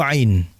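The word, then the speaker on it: ع: Nah, kalau masih bergetar hidungnya dalam pengucapan ain tadi, itu masih salah berarti pengucapannya. Karena huruf ain bukan keluar dari hidung, dia keluar dari tengah tenggorokan.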